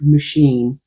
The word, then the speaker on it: machine: I noticed her watching me get closer to pronouncing the CH as an SH. Then, after a moment, I blurted out correctly the word machine.